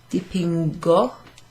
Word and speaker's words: dipingo: Dipingo, dipingo, così, io dipingo, tu dipingi, dipingi, dipingi, dipingo with a hard G, dipingi with a soft G. That's because we're following the G there with an I.